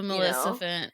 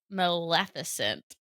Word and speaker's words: Maleficent: I love a Melissant. A Maleficent. That's a hard one for me to pronounce. Maleficent is how we say it.